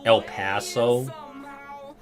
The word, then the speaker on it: El Paso: To be fair, if you ever go to Texas, we say pronounce it like like the word pass. El Paso. Okay. Like El Paso.